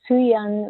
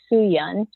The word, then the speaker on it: Sooyoung: was sooyoung so sooyoung was my um korean name and uh and i think you spell it like the americanized way of saying it would be su yun and uh and then